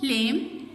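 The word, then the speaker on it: lamb: इसी तरह silent B, लेम, द लेम कैन क्लाइंब over the hills.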